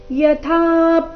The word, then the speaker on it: ಯಥಾ: ಯಥಾ ಪ್ರಕಾಶ ಯತ್ಯೇಕ ಕೃತ್ನಲ್ಲ ಲೋಕಮಿಂ ರವಿಹಿ ಕ್ಷೇತ್ರಂ ಕ್ಷೇತ್ರೀ ತಥಾ ಕೃತ್ನಂ ಪ್ರಕಾಶಯತಿ ಭಾರತ ಯಥಾ ಇಲ್ಲಿ ಥ ಮಹಾಪ್ರಾಣ ದೀರ್ಘ ಥ ಮೇಲೆ ಪ ದು ಆಘಾತ ಕೂಡ ಬರಬೇಕು ಯಥಾ ಪ್ರಕಾಶ ಯತ್ಯೇಕ ಯತ್ಯೇಕ ಕೃತ್ಸ್ನಲ್